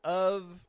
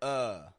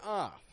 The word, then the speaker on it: of: I mentioned of is either pronounced of with a v sound or uh with a schah but never off that is o f